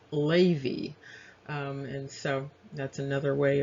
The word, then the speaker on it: Levi: into levi now interestingly this name is not actually pronounced levi it looks like it's pronounced lavy and so that's another